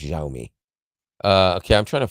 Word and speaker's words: Xiaomi: you pronounce that XI it's pronounced xiaomi uh okay I'm trying